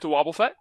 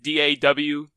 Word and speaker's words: Wobbuffet: find me at - Wobbuffet it's like da W and then just go from there and hope you get